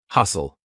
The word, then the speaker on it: hustle: in a word and know that the t is silent. For example, s t e n. Listen. We're not saying listen. Silent t. Hustle.